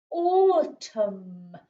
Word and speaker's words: autumn: know from phonics that a u makes an o sound or autumn we don't say the n for that one it's a silent n and that is autumn